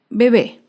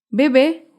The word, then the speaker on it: bebé: oportunidad otro ejemplo es la palabra bebé bebé es una palabra aguda se acentúa en la última sílaba y lleva tilde porque termina en vocal bebé acá vemos otro